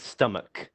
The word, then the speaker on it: stomach: word stomwatch no it's stomach with a k sound stomach yeah even though